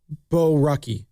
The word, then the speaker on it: Borucki: As much as we can point at, why did you go to, is it Baruki? How do you even pronounce his name? Baruki, correct? Borucki. Borucki. Borucki.